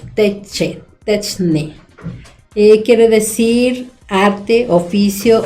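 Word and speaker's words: τέχνη: Y entonces señala el diccionario, dice tecnología viene de la palabra griego texun, que se pronuncia como techne.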